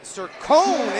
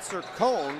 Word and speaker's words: Sircone: with the finish and a little pronunciation changed their coach as we had a little confusion on that to begin the game i'll take responsibility for that but shane sir cohn what a game he's